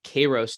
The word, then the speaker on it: kairos: One would be called kairos time, or kairos time, which is spelled K-A-I-R-O-S, kairos time, versus chronos time.